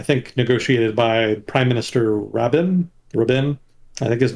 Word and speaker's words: Rabin: There we go, Rabin. Yeah, thank you. I'm not very good at pronunciation.